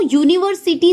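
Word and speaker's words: university: जैसे अगर हम बात करें यूनिवर्सिटी, तो यूनिवर्सिटी जो है ये उच्चारण करने पे य आ रहा है, तो इसलिए इसके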